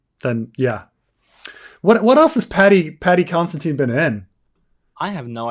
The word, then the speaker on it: Considine: Oh, Paddy Considine. I thought you'd said his name was Constantine.